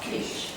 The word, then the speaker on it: quiche: Oh, quiche.